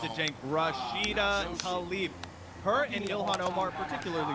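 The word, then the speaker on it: Tlaib: Let me help you pronounce it. Jenk Rashida Talib.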